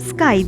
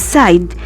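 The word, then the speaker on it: scythe: the word SC ythe it is normally called sky but actual pronunciation is side side it's a tool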